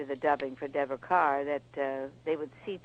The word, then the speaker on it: Kerr: by the way it's carr she pronounces it car and deborah didn't know